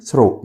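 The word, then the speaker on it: through: خلال يعني throw والGH هنا silent، بنقول throw يعني خلال.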